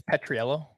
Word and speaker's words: Petriello: what happened so this stat from um mike petrillo is that how you say his name i think it's petriello petriello thank you miami has now scored three